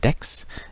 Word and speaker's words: deque: And it's pronounced deck, like a deck of cards.